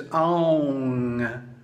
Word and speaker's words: Aum: Now the proper pronunciation is Aung.